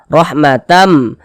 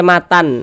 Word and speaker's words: rahmatam: melebur ke huruf mim kita baca Illa rahmatam rahmatam dibaca Matam Jangan dibaca Matan nah kemudian dia didengungkan